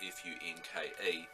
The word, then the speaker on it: Funke: I may have the pronunciation of that wrong as well. It's Funke.